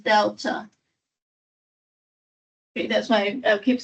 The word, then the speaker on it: delta: spell that triangle is a capital letter in the Greek alphabet pronounced Delta that's why I keep